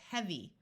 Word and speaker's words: heavy: S so dirtier dirtiest EA most of the time says e like in clean but sometimes it has a short e sound and it does in this word so this word is heavy once again the Y